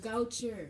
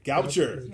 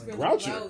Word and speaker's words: Goucher: What's the name of the college again? Goucher. Goucher. You're adding an extra R. Oh, okay. I'm sorry. I thought it was Groucho. I was Groucher. It's Goucher.